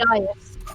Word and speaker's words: dais: As she climbed onto the days, is it pronounced day or days? D-A-I-S? I never remember. Days, I think. Is it days? Okay. Dias. Oh, Dias. There you go.